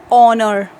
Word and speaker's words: honor: Before a word beginning with a silent H means the word in which H is written, but when we are going to speak, it is silent.